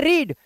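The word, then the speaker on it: read: इसे पढ़ रहे हैं रीड बट इसको पता है क्या पढ़ेंगे ध्यान से सुनना सारे इसको पढ़ेंगे रेड जैसे लाल रंग को बोलते हैं रेड वैसे ही बोलते हैं इसको लेकिन स्पेलिंग सेम रहती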